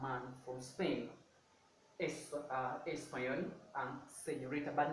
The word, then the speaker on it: señorita: So I'm going to say señorita, se, but not se, señorita, señorita.